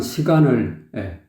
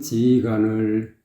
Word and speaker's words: 시간을: 수가 없어요에 전유진은 시간을에 그 시간을에서 발음이 잘못됐어요 지간을이라고 하거든요 항한 지간을 지간을 그랬어요 시간을 이렇게 해야 되는데 그러니까 여기다 힘을 줬다는